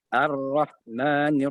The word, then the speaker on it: ar-Rahman: Jadi ha itu dibaca dengan ar-rahman, perjelas ha-nya.